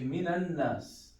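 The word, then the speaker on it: مِنَ النَّاسِ: So minan, because this alif, it's practically it's sukun. We don't pronounce it. So we say even the lam. So we say minan nas.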